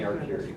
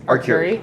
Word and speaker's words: Arcuri: we got a new District N director, Cindy Arcuri is how I believe her last name is pronounced. Anyone can correct me if I've got that wrong. Okay. So. Yeah, if She anyone. told me Arcuri. Arcuri.